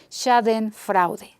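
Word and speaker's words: Schadenfreude: otras lenguas y que se nos exactamente como se pronuncie pero se dice sad en fraude y significa alegría maliciosa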